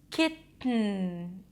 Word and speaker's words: kitten: So the tip of the tongue goes up, kit, and then you open a gap that is in the back of in the soft palate, the back of your mouth, towards your nose, kitten. Then you release the air through the nose, and then you connect it directly to the end, kitten, mountain, cotton, forgotten.